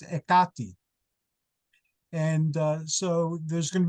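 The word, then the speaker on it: Εκάτη: And Clio, I don't know you well enough yet, but your daughter of Hecate, which in Greek, modern Greek is pronounced Ekati.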